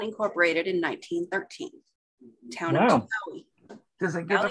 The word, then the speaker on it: Chilhowie: Town of Chilhowie. Does it give a pronunciation? Did you tell you how to pronounce it? Oh, thank you, Kelly. That was nice of you. Like we were saying, chill, how, e.